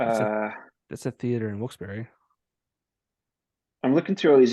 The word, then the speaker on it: Wilkes-Barre: The thing that what made me remember when you said was the Wilkes Bar, and we were all like, "Oh, it's Wilkes Bar."